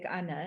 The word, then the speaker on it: Anna: pronounce the film because it is an afrikaans name but it's just anna it's a film i